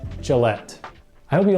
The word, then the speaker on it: Gillette: Folgers and next a shaving company and you pronounce this Gillette Gillette Gillette I hope you like this video be sure